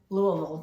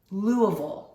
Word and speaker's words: Louisville: that's right okay so I think the locals pronounce it louville Louis V that's the